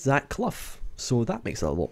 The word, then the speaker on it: Clough: And I believe it's pronounced Zach Clough.